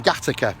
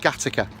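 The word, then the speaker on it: Gateacre: We know it was in Gattaca, in a little village called Gattaca. Gate Acre, it's spelt.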